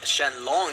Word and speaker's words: Shenron: These Dragon Balls do summon Shenron, pronounced Shenlong here, like in the original Japanese, but instead of being